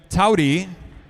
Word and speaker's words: Towdy: 4th place, from Wolfpack, Miss Abby Towdy. Rhymes with howdy.